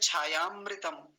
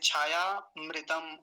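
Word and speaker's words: छायामृत: तो क्या बोलेंगे यस्य छाया मृत एक साथ बोलेंगे छाया अमृतम और अलग-अलग करेंगे तो छाया जमा अमृतम ऐसे उच्चारण में अमृतम नहीं बोलते छाया मृत ऐसा बोलते हैं छाया मृत ऐसे यस्य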